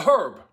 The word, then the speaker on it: herb: is not a spice it's a herb it's a what a herb say it again you know a herb one more time h-e-r-b herb i've never heard an italian pronounce it that way before there's a difference between